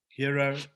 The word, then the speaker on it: Hyro: So Hero, as I said, Hero is spelt Hyro. The I is you.